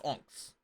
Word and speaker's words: Onyx: for scrap ons uh that's how you pronounce enx o n YX the Y is silent ctia missing I see